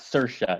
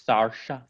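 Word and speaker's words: Saoirse: it like that apparently it's not sercia it's sarsha well if it is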